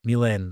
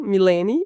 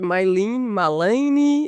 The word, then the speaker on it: Milene: não pronunciassem totalmente errado, porque o meu nome escrito, Milen, eles em inglês automaticamente eles leem com My. Então não tinha gente, my malin é esquisito, gente.